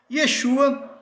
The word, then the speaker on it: Yeshua: Yeshua é a pronúncia real, verdadeira do nome do Messias em hebraico e aramaico.